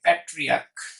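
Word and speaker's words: patriarch: ওকে, আবার আমি বলতে পারি প্যাট্রিয়াক, প্যাট্রিয়াক, এটা হয়ে যাবে প্যাট্রিয়ার্কস। ওকে, দেখেন ক ক উচ্চারিত হচ্ছিল, দ্যাটস ওয়াই কিন্তু শুধু এস।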